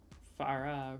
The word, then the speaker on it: Farah: Like how I just said it is. Farah.